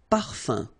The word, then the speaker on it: parfum: this UM like that, phonetically it's exactly the same thing as if you would have UN. So it's nasal and it's un. So it really goes in your nose. You don't pronounce the M at all.